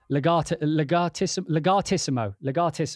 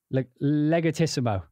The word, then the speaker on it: legatissimo: Legatissimo. That you'd have to pronounce it legatissimo, not legatissimo. I mean, you could pronounce it legatissimo, but legatissimo. Legatissimo is how it's done.